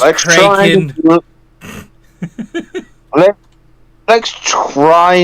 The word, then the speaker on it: Kraken: at least the Kraken it's pronounced cren let let's try not